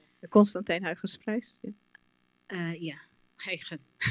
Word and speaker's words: Huygens: Yeah, Huygens. It's good, you pronounce it really well.